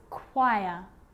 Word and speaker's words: choir: occasions it's not pronounced the H is silent so it's choir choir echo echo with